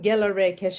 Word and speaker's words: Gelareh Keshavarz: I'm Gerda Reichelt or as you can call me Gerda. That's a difficult name to pronounce.